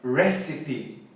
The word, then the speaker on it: recipe: Pode ser um monte de coisa, pode ser recipe, pode ser recipe, mas é recipe.